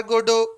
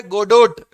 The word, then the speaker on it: Godot: अब जाइए गूगल पर स्टोरी सर्च करिएगा वेटिंग फॉर गोडो की, और फिर देखिएगा। हाँ, याद रखिएगा GODOT लिखा है, गोडोट, बट इसको गोडो पढ़ते हैं, फ्रेंच नेम है, टी लास्ट वाला जो है वो साइलेंट है, एंड गोडो इज नॉट गॉड, ये भी याद रखिएगा।